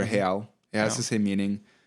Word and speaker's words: real: unit of currency is called a real, which is spelled like real. Oh. It's actually a Portuguese word, real, or real.